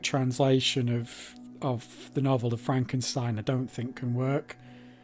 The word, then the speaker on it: Frankenstein: My name, it's pronounced Frankenstein. Yeah, another good movie.